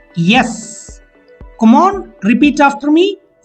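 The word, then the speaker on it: est-ce: EST hyphen CE. With the pronunciation yes.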